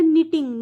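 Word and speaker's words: knitting: आप भी कर लीजिएगा अब जैसे ये वर्ड है निटिंग निटिंग में एन की साउंड आ रही है के की नहीं आ रही लेकिन के बहुत इंपॉर्टेंट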